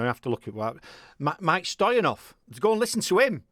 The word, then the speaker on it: Mieke Stoyanov: Hey, why not go and listen to, I'm going to have to look at what, Mieke Stoyanov. Go and listen to him. He's bloody good. You're now pronouncing it very well, man.